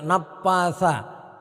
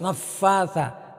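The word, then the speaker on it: نفّاثات: Jadi jangan sampai kebaca jangan sampai kita membacanya napatha. Jangan sampai membaca napatha. Jadi harus naffatha, naffatha. Ketika membaca fa itu harus betul-betul anginnya keluar, naffatha. Sebab kalau anginnya enggak keluar, maka nanti dibacanya seperti p.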